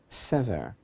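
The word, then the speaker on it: שבר: And also as a play on words, the same letters can be pronounced sever, which is a form of a word meaning hope. In other words, our sages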